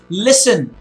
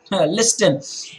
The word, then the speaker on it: listen: the start but anyway listen it's not listen try I was saying that listen is listen the T is silent there are many other